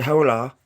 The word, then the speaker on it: hola: I know it starts with an H, but the H is silent, so I don't know exactly how to say it, right? It's kind of confusing. Is it hola?